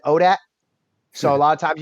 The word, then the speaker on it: ODAAT: in the community uh we just pronounce it odat so a lot of times you'll hear me refer to odat nation okay um where